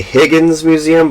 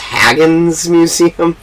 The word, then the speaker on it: Haggin Museum: front of me because I I say Higgins Museum but I guess it's pronounced Haggin Museum ah but I I've